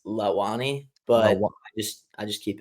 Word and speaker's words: Launi: yeah, it's originally pronounced Lawani, but Lawa.